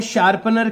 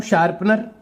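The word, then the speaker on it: sharpener: Third जो spelling है वो है शार्पनर की, SHARPNER। तो मैं स्टार्ट करता हूं, शार्पनर, SHARPNER, शार्पनर। यहां पर हम शॉर्पनर नहीं लिखें, शार्पनर, शा और पै के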